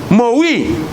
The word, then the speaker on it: moed: Ahora, la palabra fiestas que señala Levítico 23, 2 es una palabra que se dice moed. Se escribe M-O-E-D o moed.